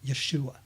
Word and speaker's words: Yeshua: lover of Yeshua Jesus his real name actually the real true pronunciation of it is Yeshua but weize it and call him Yeshua and then the real other English part of that is Jesus but his real name